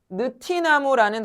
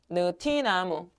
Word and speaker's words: 느티나무: 대표적인 애가 누구였어요? 느티나무라는 단어였죠. 느티나무. 느티나무. 얘는 티지만 뭐로 발음한다? 발음한다. 얘는 뭐가 아니니까 형태소. 형태소 사이가 아니고 이거 하나의 형태소니까 어 국의음 일어나지 않는다.